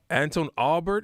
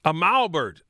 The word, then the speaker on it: Amalbert: Anton Albert. Is it? I always say his last name wrong. Amalbert. Anton Amalbert, who also mixed the entire album and mastered the entire album, did everything.